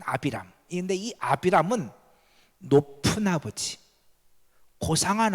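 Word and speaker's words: אַבְרָם: 그런데요 결단코 그렇지 않아요 아브라함은 히브리어를 아비람 원래 발음은 아비람 이데이 아브람은 높은 아버지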